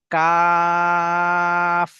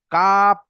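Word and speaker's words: كاف: কাফ। এবং কাফ বলার সময় ঠোঁট দুটো যখন মিলে যাবে, সেই সময় ঠোঁটের মাঝখান থেকে যেন ভিতরের হাওয়াটি বার হয়ে যায়। কাপ এমন বলবো না, বরং কাফ।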